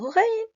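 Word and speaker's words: غين: La lettre Rain également, on peut la confondre avec la lettre Kha. R et non pas Kh. R, Rain, Kha.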